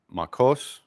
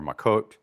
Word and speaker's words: Makot: So it's what we have Makos or Makot, Sanhedrin, Shavuot or Shavuos, depending on your Ashkenaz or Sephardic, right?